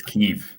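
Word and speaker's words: Kyiv: the topic of pronunciation I'm reliably informed it's keev as we discussed last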